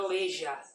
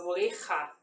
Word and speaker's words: oreja: Lembra que o J é como se fosse o nosso RR. Por exemplo, oreja, oreja, tá? Não é oreja, é oreja.